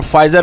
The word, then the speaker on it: Pfizer: Vaccine बनाई है और फाइजर पी से लिखा जाता है, PFIZER, तो पी पढ़ते नहीं है फाइजर हम पढ़ते हैं, तो आप देख सकते हैं कि पी साइलेंट है बहरहाल।